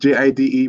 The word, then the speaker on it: Jide: My name is spelled J-I-D-E, but pronounced Jide, right?